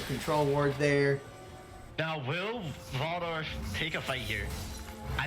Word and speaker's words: Waldorf: down or at least denying a vision from wardle waldorf sorry i'll pronounce it correctly at some point all right